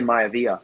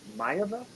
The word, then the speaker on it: Maiava: Jaden Maiava? Because I always want to say Maivia, yeah. but it's not. But it's not that. But it's not. Yeah. It's Jaden Maiava.